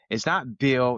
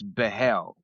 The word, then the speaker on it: Behl: It's not Bill, it's Behl.